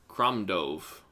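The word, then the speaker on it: Crom Dubh: Cromove. Cromove. Cromove. Don't look at how this spelled. It's like the letters aren't the same.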